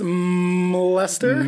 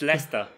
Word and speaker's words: Leicester: I believe it's Mlester. No. Mlester? Mlester? No. No, you can't pronounce the M. The M is silent. Gotcha. Okay. So it's Leicester.